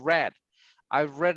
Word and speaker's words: read: this one is, and you write the same, but pronunciation is like the color. I've read a lot of reviews too.